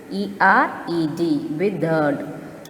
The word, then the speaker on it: withered: Withered has two syllables with W-I-T-H-E-R-E-D. Withered. How to pronounce? Withered. So R is silent here. We must pronounce it as withered, meaning dried up or dead.